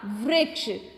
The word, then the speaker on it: वृक्ष: तो व री क्ष, क्या शब्द बन गया? वृक्ष।